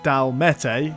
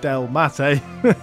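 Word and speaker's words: Dalmatae: while so uh yes we're on to the D mate not the DM the Del mate um and these guys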